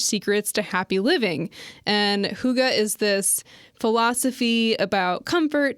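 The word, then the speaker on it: hygge: okay um but yeah I guess you're supposed to say Huga okay Huga you mean I'm supposed to say Huga well that's how you say it it's the little book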